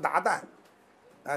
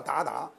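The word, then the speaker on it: 鞑靼: 为鞑靼，有的人现在念成鞑靼，实际上他那个音叫鞑靼。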